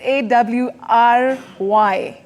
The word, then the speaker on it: awry: I don't want to pronounce it because I don't want to get it wrong. So it's A-W-R-Y.